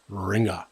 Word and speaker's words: Ringu: in a vocal vernacular, the U is added to the end and subsequently shows up in print that way, but it is not pronounced.